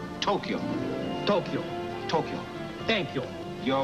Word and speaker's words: Tokyo: it is not pronounced Tokyo it is pronounced Tokyo two syllables Tokyo Tokyo Tokyo thank you